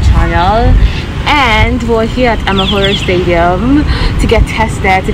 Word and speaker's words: Amahoro: So we just got to the how do you pronounce the name of the stadium though? Shimoyo. Amahoro Stadium.